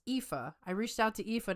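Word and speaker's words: Aoife: Um, but I actually reached out to her name is Epha. It's spelled A O I F E, but it's Epha.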